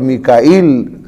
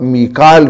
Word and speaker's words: میکائیل: ہمارے ہاں اردو کے اندر چونکہ جبرائیل اور میکائیل جو ہے نا اس کا تلفظ مشہور ہے، تو جو بات مشہور ہو وہی کہنی چاہیے، وگرنہ جبریل پڑھنا بھی غلط نہیں ہے، ٹھیک ہے، اور میکال بھی.